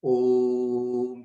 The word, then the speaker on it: Om: See, it is Om, like that. This is the real pronunciation of Om. It is not Om or that's wrong.